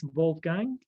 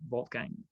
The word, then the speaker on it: Wolfgang: do you spell it so that's bald gang g w-o-l-f-g-a n g dot pro and just like the first name volt gain okay cool because also